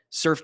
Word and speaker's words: Surfe: The tool is called Surf, and it's spelled SURFE.